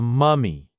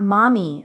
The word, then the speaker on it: mummy: Oh, a mummy. Yes. And not mommy. Okay. Be careful with the pronunciation.